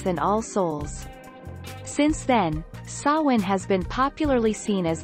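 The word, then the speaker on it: Samhain: to the ancient celtic festival of sawin pronounced sao sowin on the night of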